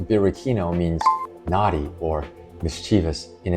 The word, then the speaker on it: Birichino: The name Birkino, pronounced Birkino, means naughty or mischievous in Italian.